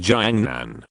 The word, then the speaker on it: Jiangnan: My name is Jiangnan, which is pronounced similar to Jiangnan, a city in China, but the Jiang in my surname is the Jiang of Mengjiangnu.